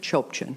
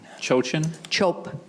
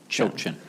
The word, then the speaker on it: Chopchian: How do you say it? Chopchian. Chochin? Chopchian. Okay, Yes.